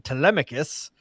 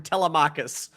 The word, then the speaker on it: Telemachus: In meanwhile, Odysseus' son, Telemachus, played by Tom Holland, is sitting there just being like stewing, saying, "I'm old enough.